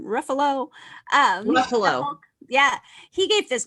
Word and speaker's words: Ruffalo: Ruffalo.